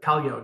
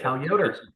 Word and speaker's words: Cal Yoder: there's outliers like like uh kalyo did I say it right please uh correct me sir if you don't mind yeah it's Cal and my last name is Yoder okay Cal Yoder yeah yeah okay love